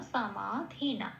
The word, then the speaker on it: সমাধিনা: সমাতে মনে রাখতে হবে দন্ত উচ্চারণটা সংস্কৃততে সারেগামা পায় যে সাটা বলি সেরকম সা তাহলে সামা আর ধীনাটা যেমন আছে তেম তাহলে হচ্ছে ব্রাহ্মাকারমা সামাধিনা এটা আচ্ছা পেলাম এটা